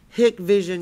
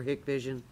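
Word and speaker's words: Hikvision: he's now selling for hick vision like like take a hike in night vision i'm just looking at the way it's spelled i know that's what i want to say too but it's it depends on whether you're whether you're hick or whether you're a hiker well i'm a hick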